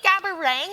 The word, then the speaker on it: Gabourey: I told her that my name was actually gabang and not gab and I have regrets